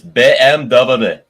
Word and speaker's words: BMW: He says it's like it's BMW. Get it right. Well, BMW. As an BMW.